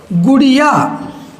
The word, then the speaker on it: गुड़ियाँ: यहाँ हम पढ़ेंगे खटिया, यहाँ पढ़ेंगे खटियाँ, यहाँ पढ़ेंगे गुड़िया, यहाँ पढ़ेंगे गुड़ियाँ, यहाँ पढ़ेंगे चिड़िया, यहाँ पढ़ेंगे चिड़ियाँ। यानी नाक से आवाज़ आएगी इनके उच्चारण में और लिखने में भिन्नता,